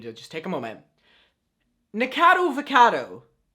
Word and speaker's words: Nikocado Avocado: Nicado Avocado. Nikocado Avocado.